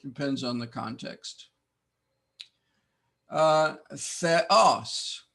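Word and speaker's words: θεός: the context uh Theos notice the accent on the second sound the o no dep thong here there is no dep thong there are seven of them we learned last time but Epsilon Omron is not a dep thong so we must pronounce both sounds Theos god with a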